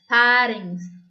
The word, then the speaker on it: pharynx: PH here P is silent. We call it as pharynx.